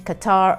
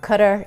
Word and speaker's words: Qatar: Cup that kicked off in Qatar our Qatar depending on how you want to pronounce it in November of 2022.